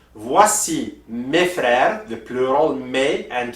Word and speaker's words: mes: So also we have my plural, which is mes, M-E-S. But you do not pronounce the S at the end. You do not say mes, okay? So you just say mes.